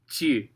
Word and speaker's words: tu: But the word is tu, tu. Ainsi tu inventes. Crazy. Okay, so you do not have a way to fix this U and I. So this is going to be an exception to that rule. One way you can do it is to just cut the U off altogether and say t'inventes, t'inventes.